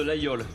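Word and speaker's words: Laguiole: de laole et pas de la guole parce que j'ai remarqué que vous disiez la guole alors je me permets de reprendre la a g i o l e oui le G on le prononce pas globalement généralement d'accord d'accord c'est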